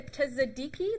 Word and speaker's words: tzatziki: And I'm going to make a tzatziki that I can never pronounce.